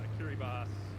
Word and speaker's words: Kiribati: actually is the correct pronunciation. お、 It's written Kiribati.